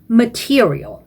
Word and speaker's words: material: Flight attendants, beverages, material 이 단어도 옳지 않게 발음하시는 분들이 되게 많아요. 시험장에 가보면 이 단어는 mate라고 하시면 안 됩니다. 요게 주로 문제이거든요. te가 아니고 t라고 발음하는 게 중요해요. 그래서 material 이렇게 한 10번 정도 소리내서 연습을 하시길 바랍니다.